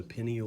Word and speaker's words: pineal: the posterior portion here that's the pineal gland I've also heard that pronounced pineal gland by people who presumably know what they're talking about okay the pineal or pineal gland secretes